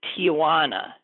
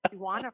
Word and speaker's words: Tijuana: His is Tijuana. I just mispronounced it according to him. It's Tijuana, not Tijuana. No A.